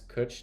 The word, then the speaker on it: cwtch: what a catch is pronounce cooch to rhyme with Butch what is a what